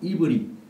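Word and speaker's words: עברי: 아브라함이 유브라데스 강을 건넌 것에 대한 건너다의 뜻인 아바르와 이브리. 이스라엘 사람들은 히브리를 이브리라고 발음을 해요.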